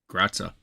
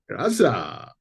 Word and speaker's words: Graza: Well, in the next episodes of Andor, Andor cooks dinner, which might be a good time to let Cassie know about Gratza. Graza.